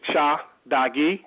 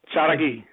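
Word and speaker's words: Tsalagi: The correct way to say that would be several ways. The first way is Cha-Dagi, okay? Cha-Dagi. Yeah. Cha-Dagi.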